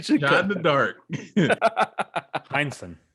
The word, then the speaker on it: Heinsohn: So I thought it was worth mentioning my man, Tom Henson. I'm trying to figure out how to pronounce it right now. Maybe we should cut in the dark. Heinsohn. You had it right.